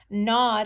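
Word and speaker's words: gnawed: and aw ee d it's got some very silent letters we don't say that G it's more like that not any w ee d nod is when you chew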